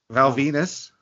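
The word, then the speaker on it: Val Venis: Val Venus. No, he's a batshit crazy guy now. Rhymes with penis.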